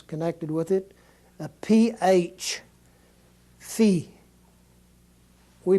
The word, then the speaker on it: phi: English same word here Phi is the way it should be pronounced like the pH in the word phosphorus or photo or something like that is exactly the way it would be sounded the next word is